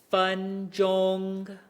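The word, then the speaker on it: 分钟: Notice here, my first tone is kind of like holding its place, right? 分钟. It's not changing or wavering at all.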